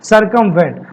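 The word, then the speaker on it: circumvent: उपाय खोजना कहलाता है सरकमवेंट। मतलब कॉप आउट, डेपोलराइज, डिपोलराइज और एल्यूड। ठीक है, याद कैसे करोगे? सरकमवेंट, सरकमवेंट को तोड़ दो, CIR को सर कर दो क्योंकि प्रोनाउंसिएशन सर का आ रहा है, और कम मतलब कम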